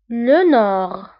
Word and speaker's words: le nord: الشمال le nord. Le nord. فبالنسبة للنور نكتبها بالد في آخر الكلمة ولكن لا ننطقها، نقول le nord.